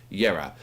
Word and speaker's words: Jera: The J is silent. Jera. So as I said, young atmospheric black metal band from Britain, the UK. They're releasing the debut album Jera.